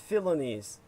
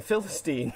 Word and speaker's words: Philonise: The guy's name is Philonise, or he may be named after the Greek philosopher, to the point where they're pronouncing it like the Greek, where it's Philoniste, as opposed to, you kept saying Philistine.